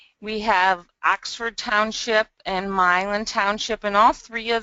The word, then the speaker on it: Milan: and as I mentioned we pronounce that Milan not Milan so Milan is the proper pronunciation we have Berlin Township